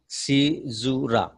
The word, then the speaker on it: caesura: Okay, remember the pronunciation, it is different. caesura.